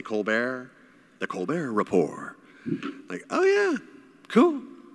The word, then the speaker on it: Colbert: like oh yeah okay Stephen Colbert spelt like Kolbert but people say Colbert The Colbert Report yeah